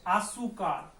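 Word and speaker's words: azúcar: अब इसका उच्चारण देखते हैं, उच्चारण है इसका आसूकार, तो ऊ पे ज्यादा लग रहा है, ठीक है, ऊ के ऊपर जा रहा है।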